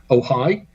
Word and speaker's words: Ojai: That's in California on the 15th of July at Libya Bowl in, I think it's pronounced Ojai. OJAI.